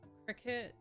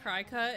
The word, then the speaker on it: Cricut: Holy moly, that word isn't pronounced cry cut. It is not.